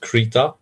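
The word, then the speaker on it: Krita: screech oh okay and I also heard the main developer de pronouncing it creature and yeah I made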